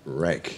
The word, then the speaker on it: wreck: your massage therapy yeah it'll be a rex wreck rare wreck yeah Rick this is a double silent w here just go interest yeah